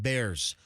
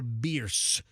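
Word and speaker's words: Bearss: Genesis of Tampa's right at 275 and bears or beers is I guess the actual correct pronunciation according to the Beers family who lectured Fester some years ago. I used to call it bear ass on my traffic reports and they got really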